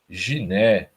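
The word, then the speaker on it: γυνή: Que no grego é guné, né? Guné. E se você prestar atenção na pronúncia, vai ver que na verdade ela é giné, né?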